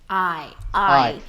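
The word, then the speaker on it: aye: Como é que se escreve I? Não é o I de eu, né? É a letra A-Y-E. I. Ai. Que é como os piratas falam.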